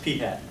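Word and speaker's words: p̂: It's pronounced P hat.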